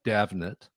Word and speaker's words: Damhnait: So your next album called Davnet, the Yeah, the phonetic pronunciation of your name, yes.